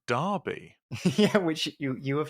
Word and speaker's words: Derby: UK to Charles I'm from uh which is pronounced Derby yeah which you you have learned on on